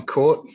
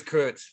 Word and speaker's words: Kurt: I'm Court. Court? Yeah, Court. I was thought it was Kurt. Oh, it is Kurt, the Dutch pronunciation, but I've lived my whole life being called Court.